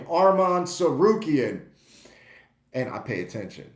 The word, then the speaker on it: Tsarukyan: Arman Tsarukyan because somebody commented on how to pronounce his last name, Arman Tsarukyan.